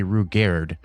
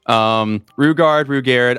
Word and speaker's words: Rugaard: Rugard. I literally both of them are actually correct pronunciations depending on the timeline of the book series, but that's a different note.